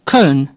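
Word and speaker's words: Köln: dusted off desert off next cone say cone in English we call the city Cologne now we have an O with two dots pronounced air somewhat similar to our serve or Colonel say sir say Colonel now say cone cone a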